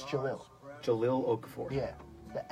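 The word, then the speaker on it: Jahlil: Jahil. It's Jalil.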